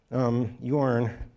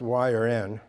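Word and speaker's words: yorn: here's the helper procedure yarn which is actually supposed to be pronounced y or n because you have to answer yes or no if you say yes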